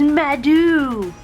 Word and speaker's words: Maido: gonna be talking about it's not pronounced tomato is madu come on whatever all